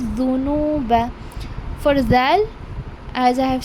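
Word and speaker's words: ذُنُوبَ: It is not zunuba, it is dhunuba.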